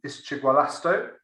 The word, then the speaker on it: Ischigualasto: Ischigualasto is how you pronounce the name of this provincial park, and